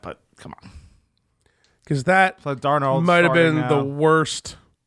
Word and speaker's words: Darnold: Because that Darnold might have been the worst. Like, is he starting? Yeah, he's starting. And it's Darnold, by the way.